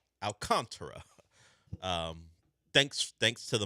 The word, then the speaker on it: Alcantara: That's how they say his name. Alcantara.